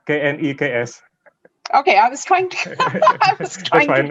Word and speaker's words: KNEKS: The name of our organization is not KENGS, but KNEKS.